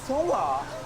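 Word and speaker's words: Seonghwa: This is how they pronounce their names. Hi, my name is Songhwa.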